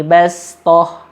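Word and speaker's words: بسطة: Jadi kalau di kata-kata fil khalqi bastah ini lebih baik dibaca pakai huruf sin karena sinnya di atas. Fil khalqi bastah.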